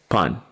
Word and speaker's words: pan: that she enjoyed on I will write it like this and pronounce it pan and depending upon the